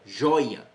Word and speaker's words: joia: A sílaba tônica é a primeira, joia, joia, tá?